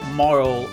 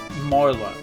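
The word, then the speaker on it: Marle: If you look at that, I think it's Maru. So Marl is I'm assuming the more appropriate pronunciation, but I like Mara, so please call me Mara.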